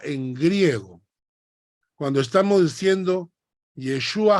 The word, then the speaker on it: Yeshua: c h hamashia que significa Mesías Jesús se pronuncia yeshua yeshua cuando decimos yeshua hamashia estamos diciendo Jesús El